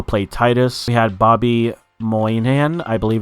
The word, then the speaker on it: Moynihan: We had Bobby Moynihan, I believe it's pronounced, playing King George, and John Hamm playing Mayor Jerry.